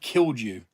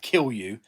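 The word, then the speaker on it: kilju: It was called killed you or kill you, but it's spelled K I L Ju.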